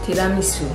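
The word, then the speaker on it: tiramisù: Tiramisu. But this is easy, but when I say tiramisu, like tiramisu to your mom, like she often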